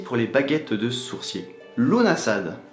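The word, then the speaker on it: Lughnasadh: Lunasad. Il ne faut pas prononcer le G.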